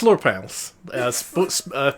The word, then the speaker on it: Slurpals: I deserve It's Slurpals, pronounced phonetically, as featured in Birdemic.